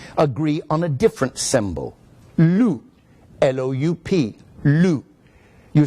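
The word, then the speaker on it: loup: strange things about French they very often do not pronounce the consonants at an end of a word which means to represent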